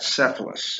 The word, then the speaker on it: Cephalus: Cephalus. And you pronounce that Cephalus, okay?